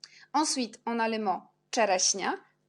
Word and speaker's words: czereśnia: Ensuite, on a le mot czereśnia. CZ, on prononce czereśnia. Après, on a S avec petit l'accent, c'est si. Et NI, on prononce quand N avec l'accent, c'est ni. Alors, le mot, c'est czereśnia.